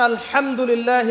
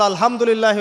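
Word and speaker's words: الحمد لله: মাখরাজ কোথায় বলেন একজন কণ্ঠনালীর মাঝখান থেকে এখান থেকে আপনি উচ্চারণ করছেন আলহামদুলিল্লাহি রাব্বিল আলামীন অর্থ দাঁড়াচ্ছে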